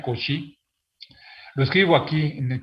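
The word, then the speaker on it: Cauchy: es agustín con si se escribe couch y por cierto se pronuncia con si lo escribo aquí en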